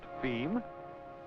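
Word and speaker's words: fim: for distribution within Brazil F I M pronounced theme being as you guessed it Portuguese for the end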